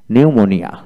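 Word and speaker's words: pneumonia: তারপর আসেন নিউমোনিয়া, নিউমোনিয়া।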